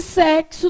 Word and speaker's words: sexo: E sexo tem som de quê? KS.